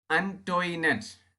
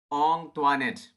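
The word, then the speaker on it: Antoinette: Most of them pronounced it ആസ് അൻറ്റോയിനെറ്റ്. അവിടെ ഉണ്ടായിരുന്ന കൂടുതൽ പേരും ആ പേര് എങ്ങനെയാണ് ഉച്ചരിച്ചിരുന്നത്? അൻറ്റോയിനെറ്റ്. But Kunjichirda learned from Ong Tuanet that the name ought to be pronounced Ong Tuanet.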